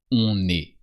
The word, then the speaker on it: on est: So don't forget to pronounce the N of on, because then you have a vowel. On est.